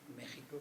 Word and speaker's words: México: Pero no olviden que si México se escribe con X, se pronuncia con J.